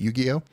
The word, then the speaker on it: Yu-Gi-Oh: I would assume that people who are into Yu-Gi-Oh is that how you pronounce it scroll back up is it Yu-Gi-Oh yeah if you're into Yu-Gi-Oh the fact that